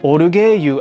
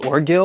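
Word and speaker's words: ORGUEIL: I only know the Japanese pronunciation, but it's called Orugeyu. I'm pretty sure it's pronounced Orgil or Orgale, something in English, but this brand is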